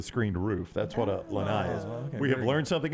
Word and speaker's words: lanai: she just texts me it's pronounced Lanai like bye Lanai like by Lanai